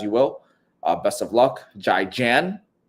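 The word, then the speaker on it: 再见: Jai Jan. Zaijian.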